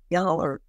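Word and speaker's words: yoğurt: producing what they called Yahurte, in commercial quantities. That spelling, that is a phonetic spelling of the Turkish word as pronounced in Turkish. There is no yogurt with a hard G in Turkish.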